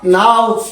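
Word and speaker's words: know: ভিডিওর লেখাগুলো অবশ্যই আপনি কোন শব্দের শুরুতে কে থাকে তারপরের লেটার যদি এন হয় তাহলে কে এর উচ্চারণ হয় না সাইলেন্ট হয় যথা নাউ নট নি নাইফ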